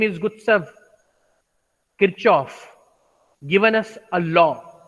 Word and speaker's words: Gustav Kirchhoff: So I have pronounced his name as English pronunciation without using German pronunciation.